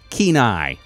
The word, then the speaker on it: Kenai: It's pronounced Kenai. Like having a keen eye.